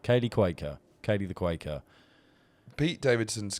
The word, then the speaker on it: Cuoco: Quaker. Kaylee Quaker.